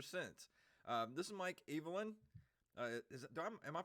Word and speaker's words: Eveland: been friends ever since uh this is mike evelyn uh am i pronouncing that correctly evelyn you were one of the few who have